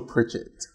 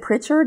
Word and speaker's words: Pritchett: Marshall Pritchett. Pritchett, and I have said Pritchard and Pritchett.